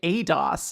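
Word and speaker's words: eidos: I mean, that may be how the British company pronounces it. That's not how the Greek word is pronounced.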